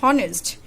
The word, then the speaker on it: honest: an example H o n est honest not honest it's honest if the pronounced is or we will use and not